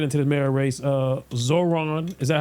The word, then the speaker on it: Zohran: Uh Zoron. Is that how we pronounce his name? Zoron. Name Zoron. Zoran.